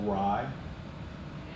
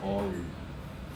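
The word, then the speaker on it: awry: So like A-W-R-Y or rye. Yeah, I thought it was Ari because I'd never heard anybody say it before.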